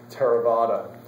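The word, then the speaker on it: Theravada: not an R um it's pronounced as if there's no h there terada and what this means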